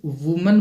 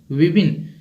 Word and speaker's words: women: While the women, ये जो word है WOMEN, इसको बहुत सारे बच्चे वुमन बोलते हैं, जो कि गलत है। इसका सही प्रोनाउंसिएशन होगा विबिन, औरतें।